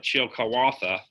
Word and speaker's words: Chillicothe: Chillicothe is actually the pronunciation is it's like Chilcawatha.